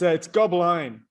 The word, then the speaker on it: Gobline: Is it Gobline or Goblin, just with an E on it? It's Gobline. It's Gobline. Goblin on the Line, the talk show. You know, like live line.